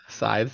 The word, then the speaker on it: scythes: Scythes. Yeah. If there's a way to not pronounce it properly, Billy, you got it.